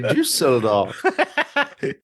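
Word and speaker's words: Düsseldorf: That's how it's pronounced, actually. Dusseldorf.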